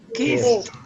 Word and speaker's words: kissed: Because as you can see, this verb has a short e, while llaves in English has a long e. Keys. Okay, keys. So that's the pronunciation. How do you say that? Kissed.